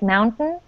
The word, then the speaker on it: mountain: good point about Mountain it doesn't sound like if it has a t in it when someone says like Mountain um that's just a pronunciation like uh it's very American Mountain mount mountain yeah you but I don't recommend it um that's that's more of a lazy way of speaking so you can